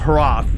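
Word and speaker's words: HROT: It's it's it's pronounced Harath, but it's made by one guy from uh I think that guy made it was from Poland.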